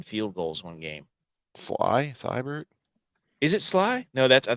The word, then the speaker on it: Seibert: You're right, Seibert. dude. Yeah, Austin that guy. Seibert. There you Yeah, go. that guy. I was calling him Say Bear.